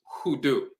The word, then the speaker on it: hoodoo: popularly by the aan term unu which is pronounced hudu it's from the akamu aan dialect unu means